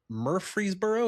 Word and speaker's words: Murfreesboro: He's out running a mulcher and clearing land with his dad through Clear Ground Land Company in Murfreesboro. Is that how you pronounce it? Yes, sir. Tennessee? Murfreesboro, Tennessee.